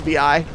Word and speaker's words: Vi: closest right now are v or vi i don't know how to pronounce her name it's vi so they're following her